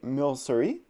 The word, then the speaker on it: Milcery: So it looks like Milcery is the correct pronunciation.